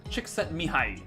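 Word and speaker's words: Csikszentmihalyi: high i think so you say his name chicks and high i wrote it here chicks chick sent me high that's the pronunciation of it uh i was trying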